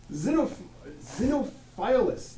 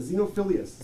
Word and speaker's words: Xenophilius: Xenophilus, love God, love good. Love good. How do you pronounce it? Xenophilius.